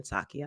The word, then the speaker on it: Psaki: As a matter of fact, today alone, the president's secretary, Jen Psaki, as I like to call her, it's Jen Psaki, I know. The P is silent.